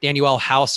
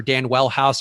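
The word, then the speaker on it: Danuel House: out of the lineup danielle house or dan wellhouse or daniel house depending on your various pronunciations 50 true shooting on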